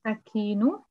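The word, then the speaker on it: السكين: You don't have to pronounce. Yeah, because you have Shadda here. Yes. As-Sikinu.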